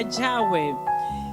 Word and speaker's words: Yahweh: significa Yahweh o sea en la transliteración al español se pronuncia Yahweh Y en este hebreo